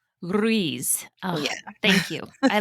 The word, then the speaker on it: Ruiz: Um, not really, but the actual pronunciation is Ruiz. Ruiz.